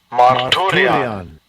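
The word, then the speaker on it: μαρτύριον: It's pronounced Strong's G3142. Marturian.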